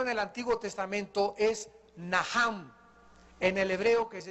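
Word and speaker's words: נחם: La primera palabra que se usó en el Antiguo Testamento es naham. En el hebreo que se escribe nach. La ch en el hebreo se pronuncia como J y significa cambiar la manera de pensar.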